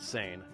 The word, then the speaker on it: seine: At that time, purse seine fishing, yes, we pronounce it seine, was the main fishing method.